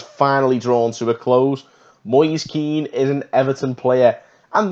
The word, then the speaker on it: Moise Kean: Everton summer has finally drawn to a close Maurice keen is an Everton player and that is apparently how you do pronounce Maurice keed the man himself said so